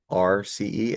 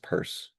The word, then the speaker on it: Peirce: Yeah, it's a weird spelling. So it's like Pierce. I don't even know how to use Peirce. It's pronounced Peirce.